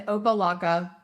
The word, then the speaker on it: Opa-locka: City officials in Opa-locka, sounds like Oompa Loompa, are following in the steps of neighboring city Hialeah.